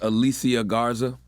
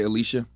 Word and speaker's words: Alicia Garza: Her name is Alicia Garza. I'm so happy I learned to pronounce that. I used to always say Alicia.